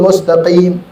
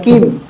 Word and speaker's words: mustaqim: Ihdinas siratal mustaqim. Qaf, bukan kim. Mustaqim kadang mustaqim. Qaf diganti kaf. Jelas kalau cuma sedikit masih orang itu dibacanya qaf, masih selamat.